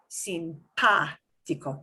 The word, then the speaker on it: simpático: in French, in Spanish, an accent mark just means put more oomph into that syllable. It does not change your pronunciation of the ah. It just means you put more force into that syllable. Not simpático, not simpático, but simpático, simpático, simpático. That's all the accent mark means, okay?